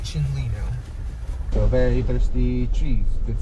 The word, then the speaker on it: Chinle: without further people just pronounce it shin lino so very thirsty trees